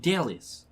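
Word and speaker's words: Dellis: Delis. How do you spell that? Delis. Dallas? D-E-L-L-I-S. Oh, D-E. L-L-I-S. Like a really bad version of Dennis.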